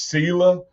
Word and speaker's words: selah: well there's a word in scripture that says selah uh or sailor based on how how people pronounce it but it means pause and calmly